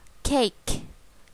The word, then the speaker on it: cake: ngọt đây là cake cake cake C Cake Chúng ta đọc cả âm C Cake very good next One